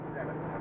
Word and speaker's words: Zenith: It smells like Venus, but it's pronounced Zenith.